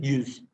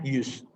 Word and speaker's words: yüz: Bukan yüz ya, bukan bacanya bukan yüz ya, U biasa tapi yüz. U-nya agak tebal. U-nya tebal karena ada titik di atasnya, yüz.